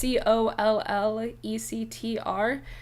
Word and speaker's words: Collectr: It's spelled like Tinder, so there's no R, so it's COLLECTR.